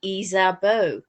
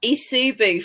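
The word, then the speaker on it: Ysabeau: it's spelt y-s-a-b-e-a-u right which in french would be izabo yeah because it's like eve and yvette and yvonne yes exactly and where he got isubu from i do not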